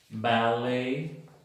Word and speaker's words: ballet: La 62, ET al final de las palabras, si vienen del francés, se pronuncian E nuevamente. Ballet o ballet y filet.